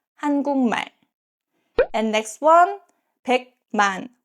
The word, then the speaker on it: 한국말: First, 한국말, the Korean language. This 국 ends with 기역 and next syllable starts with 미음. In this case, 국 is pronounced as 궁. So it's 한국말, 한국말.